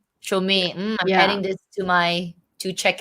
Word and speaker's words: Chaumet: How do you pronounce it? Chaumet. Chaumet.